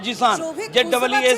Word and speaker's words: Zeeshan: যে প্রোনাউন্সিয়েশন যদি হয়, আমার নাম জিসান, ZEESHAN জিসান।